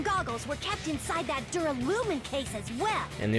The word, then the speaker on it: duralumin: Inside the Duralumin case Byakuya had with him during the party, Duralumin.